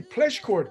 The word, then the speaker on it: Pleschourt: end personal suffering and optimize their life pleschcourt welcome to the show today thank you is